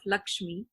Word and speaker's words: LXME: i am also the founder of lakshmi uh we spell it lxme but um it's taken